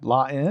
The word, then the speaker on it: La Haine: La Haine. La Haine. It's spelled Haine.